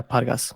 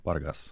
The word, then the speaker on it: Pargas: just say Paras or or how yeah yeah pargas pargas yeah so so you probably do you you